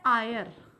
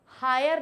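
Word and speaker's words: heir: पता है ठीक है जी मैम ठीक है इसे पढ़ा जाता है आयर आयर आयर में एच फिर से दबा दिया गया है जैसे हॉनेस्ट में ऑनेस्ट बोला गया हॉनेस्ट नहीं बोला गया इसे क्या बोला गया ऑनेस्ट वैसे ही हायर नहीं बोलते हैं इसे बोलते हैं आयर आयर मतलब होता है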